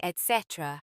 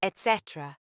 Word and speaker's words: etc.: It's just det, saying etc. It's etc. No K sound, berry pronounced as berry.